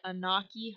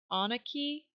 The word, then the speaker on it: Onaqui: They're from the, I'm going to butcher the name of it, Onaqui herd. I think it's actually pronounced Onaqui, something like that. I know the word on is supposed to be in part of it.